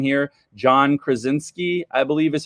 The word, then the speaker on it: Krasinski: I've been inspired by, and I'm totally going to mess up his name here, John Krasinski, I believe is how you pronounce it.